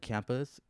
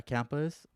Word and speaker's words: Camus: Albert Camus or Cam Yeah, Camus is considered Camus?